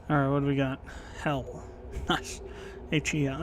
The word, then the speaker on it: Hel: Hell. Nice. H-E-L. It's actually the the Viking pronunciation of hell.